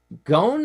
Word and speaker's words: Gone: Matt Gone, or Gone, G-O-N-E is how it's spelled, holds a Guinness World Record for the